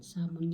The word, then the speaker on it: salmon: Nakakain kami ng Salmon Salmon salon yan ang pronunciation Salmon na isda nakakain